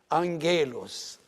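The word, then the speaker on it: ⲁⲅⲅⲉⲗⲟⲥ: The gamma is pronounced as an N if it is followed by one of these 4 letters. Another gamma, or the K, or the K, or the X. If a letter, one of these 4 letters, appears after the gamma, the first gamma is pronounced N.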